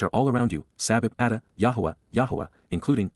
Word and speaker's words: Yahweh: to sing Psalm 89:7 Yahweh Yahweh the proper pronunciation of the name of eloah God as directed in